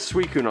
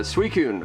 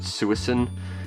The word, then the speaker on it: Suicune: kid I I think I tried to pronounce it suicin because I didn't have any idea how to pronounce it also there's a